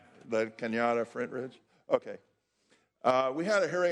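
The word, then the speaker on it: La Cañada Flintridge: In the fall of this year, the Senate Human Services Committee, with my colleague from La Cañada, Flint Ridge, right? Did I say it right? La Cañada, Flint Ridge?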